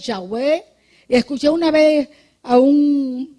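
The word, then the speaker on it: Yahweh: o menos tú sabes en hebreo uno dicen Jehová no es y tenemos que estar Claro que Jehová no es el que más se le hacee es yahwe escuché una vez a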